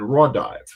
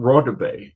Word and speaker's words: Rive: it and they me he pronounces his name Constantine Rive not Ray and I didn't recognize